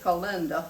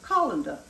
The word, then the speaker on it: colander: pie crust Miss and I called it colinda I didn't know how to pronounce it I mean I mean you know I'm Southern y'all and so I got two or three people that told me and I appreciate it very much you pronounce it colander just like the colander your drain stuff in so now I know